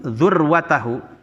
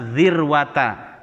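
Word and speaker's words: ذروة: wahai algojoku idza balaktum dzur watahu zurwah itu bisa bacanya dzurwata bisa dzirwata dalam bahasa Arab puncak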